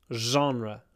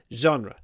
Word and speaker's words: genre: of the only ones genre genre there are very few words that begin with and we pronounce it with an a zre genre hold the n as well je genre my favorite